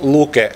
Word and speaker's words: Luke: So the Natural Resources Institute Finland, very briefly, I pronounce it LUKE as we say it in Finland.